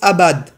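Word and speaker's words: עבד: Et on le retrouve, hein, le mot culte en hébreu, ça se prononce abad.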